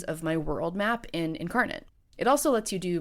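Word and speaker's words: Inkarnate: Incarnate, which is spelled I N K A R N A T E, Incarnate, is an online fantasy mapmaking software that costs about $25 a year for their premium version.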